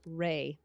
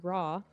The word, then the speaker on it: Ra: his name is unknown many egyptologists favor a pronunciation close to Ray which is based on